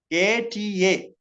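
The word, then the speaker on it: अत: I pronounce that Ata Sadatya Gamane. Ata, A and Ta. A you can write A and T-A, Ata. A-T-A. Okay, it should be pronounced Ata.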